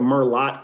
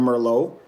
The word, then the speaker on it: Merlot: They're just going to laugh because you said Merlot instead of Merlot. They didn't know there was a silent T at the end.